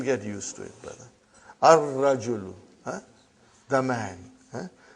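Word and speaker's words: الرجل: Ar-rajulu. Huh? The man. Huh? Not al-rajulu. Huh? It will be wrong to say al-rajulu. It will be ar-rajulu. We won't pronounce lam. Why? Because it is a sun letter.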